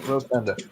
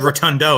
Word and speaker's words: Rotunda: Windham Rotunda. I almost said Rotundo, and I was like, wait, no.